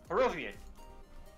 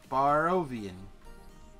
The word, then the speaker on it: Barovian: It's not a hard I. It's a European I. It's pronounced E.